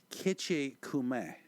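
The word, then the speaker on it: Gitche Gumee: Actually, it is pronounced probably more appropriately, Kitchikume. And the E sound is probably not a long E sound. It's probably more like an like an I.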